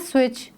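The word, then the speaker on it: switch: Turn the स्विच ऑन, यहाँ पे सी एच से पहले टी यूज़ हुआ है जो कि एक साइलेंट लेटर है। ओके तो हम इसको पढ़ेंगे किस तरह? स्विच। टी को हमने प्रोनाउंस नहीं किया।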